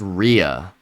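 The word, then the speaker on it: rhea: It's It's pronounced Ria.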